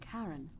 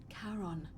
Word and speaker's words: Charon: It's just as you described it, only your pronunciation is a little off. The name you heard wasn't Karen. It was C-H-A-R. No, it's not. I said that before. It's not. Charon, the ferryman No.